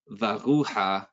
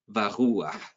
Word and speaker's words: varuah: It's not supposed to be read varuha, it's supposed to be read varuah.